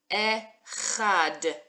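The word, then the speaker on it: אחד: Okay, we've got our silent letter with our vowel. Our ch sound, our house without a hole. It's making that fun ch sound. And our dalet at the end. D. Echad.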